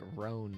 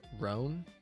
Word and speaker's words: Roon: I heard Roon is pronounced like Roan before. Oh, with like a silent English E at the end, basically. Roan? Interesting. I guess that's a way to do it. All right, we're almost there. We're almost through the story. It'd be more like saying "oh" but longer. Roan?